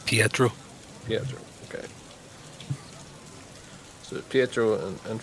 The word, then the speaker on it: Pietro: So and your character name Scott again is, just in case I was pronouncing it wrong. Right, Pietro.